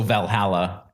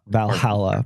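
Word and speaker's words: VA-11 Hall-A: to say the name it's a V a 11 Hall a so Valhalla Valhalla basically yeah it's a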